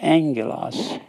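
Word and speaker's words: ἄγγελος: e l o s Angelos that's two G's together it's pronounced Ng so it's actually Angelos and it's our Angel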